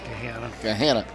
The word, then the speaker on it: Gahanna: Columbus Academy out of, it's pronounced Gahanna, right? I'm not saying it, Gahanna? Gahanna. Out of Gahanna.